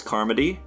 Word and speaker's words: Carmody: Welcome to the after show of our conversation with Charles Carmody, which ironically rhymes with Bone Thugs and Harmony.